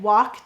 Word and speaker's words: walk: Did you know that in words like walk, talk, and chalk, the L acts kind of like a silent E, except it's a silent L. And it's cluing that vowel to say its broad sound.